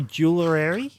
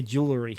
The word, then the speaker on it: jewelry: one to say too I can say jewelry but I have to think about it and say it like that I can't say jewelary I have to say jewelry i' love to see